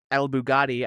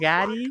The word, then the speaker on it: Baghdadi: spelled ALBAGH Daddy. Whatever, just El Daddy. El What the fuck? Baghdadi. Okay, go ahead.